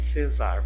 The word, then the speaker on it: Cesar: Cesar, cesar. Qual posição? O Cé é a sílaba tônica. Então, está na penúltima sílaba, então ela é o que? Uma paroxítona. Uma paroxítona.